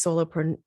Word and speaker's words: solopreneur: to it to create their own soul-based business, solopreneur.